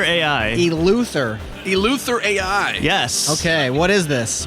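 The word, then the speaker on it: EleutherAI: yeah and you're with I'm going to also butcher the name of the org elther AI elther El Luther AI yes okay what is this what is a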